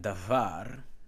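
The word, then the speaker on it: דָּבָר: Thus, neither of the vowels in davar, notice is D-A-B-H-A-R, remember the B-H will be V and not B. Davar, right here, Dalis Beis Resh, davar, meaning word or thing, is pure long.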